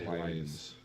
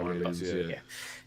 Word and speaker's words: Hylians: With PlayStation also sending out "Have fun up there, Hellions." I think that's how you say it. Hylians, I think. Hylians, yeah.